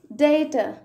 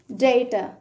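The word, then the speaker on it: data: ఇంతకుముందు ఓసమ్, ఆసమ్ చెప్పినట్లుగా అలాగే డేటా, డిఏటిఏ కొంతమంది ఏమని ప్రొనౌన్స్ చేస్తారంటే డేటా, కొంతమంది ఎలా చెప్తారంటే డాటా. ఏం చెప్తారు? డాటా. Both are acceptable.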